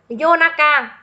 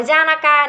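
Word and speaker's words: 夜中: thì mình sẽ đọc là Yonaka, Yonaka, không đọc là Yoru nhá. Cũng không được là Janaka nữa chưa?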